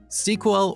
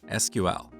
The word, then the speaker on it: SQL: As you talk to different people, you will hear two different pronunciations of SQL: SQL or SQL. What is the correct way? Well, it depends on who you ask.